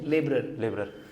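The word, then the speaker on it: labourer: तुम्हें प्रॉपरली बोलना है, they are daily veg लेबरर, लेबर नहीं, ठीक है, लेबरर। Okay, introduction.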